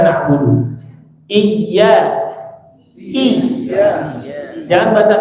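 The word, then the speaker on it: نَعْبُدُ: Maliki yaumiddin, iyyaka na'budu. Iya. Jangan baca i. Iya. Tapi enggak terlalu kuat juga. Iya, begitu. Iya. Ada tasdid di situ ya. Iya. Iya-nya tipis ya. Iya. Iya. Iyyaka na'budu. Na'budu. Tipis budu.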